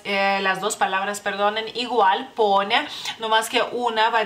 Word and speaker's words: Ponia: O sea, la I cambia, digamos que la pronunciación de la última letra. Por eso pronunciamos las dos letras, las dos palabras, perdonen, igual, Ponia.